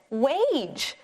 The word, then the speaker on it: wage: Yeah, we've got this tricky silent E at the end that makes the A say its name, so this is wage.